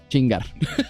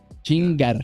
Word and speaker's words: chingar: be something like okay Ching chingar you got roll the RS Ching chingar yeah yeah yeah but